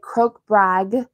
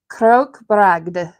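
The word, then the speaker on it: krokbragd: did but I think technically it's croak brag and there's the G and D in there so how am I gonna pronounce it as an English speaker I don't know but I think it's fun to put the G and D together so I'm going to try Crook bragged and go with that so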